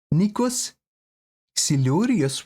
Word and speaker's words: Nikos Xilouris: I think we're gonna listen to the song of another iconic and beyond legendary Greek artist in the name of Nikos Xilouris. What was the correct pronunciation?